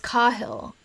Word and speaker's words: Cahill: But I think that at least Cahill is pronounced Cahill.